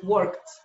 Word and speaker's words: worked: Ya no es work, ahora es worked. Worked. Le aumentamos una T prácticamente en la pronunciación.